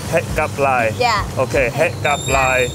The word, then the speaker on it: hẹn gặp lại: Het gặp lại. Het gặp lại.